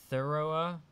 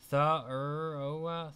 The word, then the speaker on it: Thoreau: Thoreau. Thoreau.